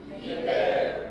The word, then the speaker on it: ibero: reservada do Lar calma ibero diga ibero e ó ó a